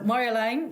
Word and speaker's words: Marjolein: Marjolein is a Dutch name, and you're pronouncing it correct. It's like Mar, and then Yo from the rapper, Yo-Yo, and then a line, like a thin line. So Marjolein, that's completely correct.